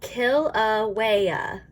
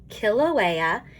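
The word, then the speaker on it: Kīlauea: here in these parentheses it tells me how to pronounce it so kilauea kilauea in hawaii is the most active volcano on earth it has erupted non-stop since 1983.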